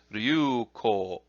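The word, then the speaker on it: 龍虎: And then there's another one from one of the more advanced arts, which is ryu-ko. Ryu-ko. It's a short ko sound.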